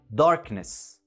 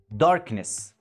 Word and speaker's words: darkness: جاي قبل حرف الان، بس احنا بننطقها darkness darkness، وهنا حرف الكي مش silent لانه مش في بداية الكلمة.